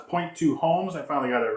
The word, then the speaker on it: point2homes: I always call it point to point, but it's not. It's point2homes.